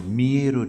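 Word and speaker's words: Millet: বিখ্যাত চিত্রকর ইমপ্রেশনিস্ট চিত্রকর মেয়েরও জীবনীকার এম আই এল এলইটি ফরাসি উচ্চারণে মিয়ে মিয়ের মিলেট নয় মিয়ের জীবনীকার কাজেই সমস্ত সমন্বয় যেন মিলে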